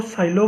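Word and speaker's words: Sylow: Because इस order का सब इस ऑर्डर के सबग्रुप को क्या बोलेंगे, P सिलो सबग्रुप। ठीक है, अब कईयों की प्रोनाउंसिएशन को साइलो बोलते हैं, कहीं सीलो बोलते हैं।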